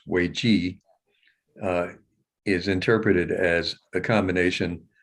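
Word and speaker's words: 危机: uh that in chinese the word for crisis which we pronounce wei ji is interpreted as a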